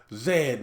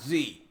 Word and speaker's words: zed: He said it's pronounced zed, not Z.